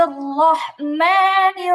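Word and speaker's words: الرحمن: বিসমিল্লাহির রহমানির রহিম। বিসমিল্লাহির রহমানির রহিম। রহমানির রহিম, রহমানির রহিম। রহমানির রহিম, রহমানির রহিম। হ্যাঁ, এই যে র গুলো মোটা, কেমন?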